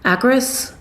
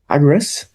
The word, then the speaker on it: Akris: Oh, they're um have you ever heard of, and I hope I don't say it wrong, Akris? Akris?